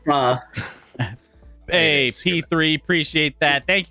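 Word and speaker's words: phở: It is pronounced pho.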